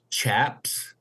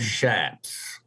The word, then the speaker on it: chaps: It's mainly people that have nothing to do with the West or the cowboy culture will pronounce it chaps instead of shaps.